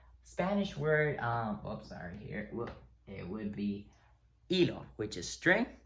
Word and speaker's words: hilo: Notice there's this H here that is always silent, which is why I crossed it out. So yeah, you don't pronounce it. You never do. Don't ask me why. So it's always just, it disappears. It's a Houdini. It's just not there.